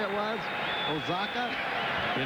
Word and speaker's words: Oaxaca: balls one strike Vinnie Castillo's Hometown in Mexico Oaxaca so what what did you say it was Osaka you're not going to ask do you expect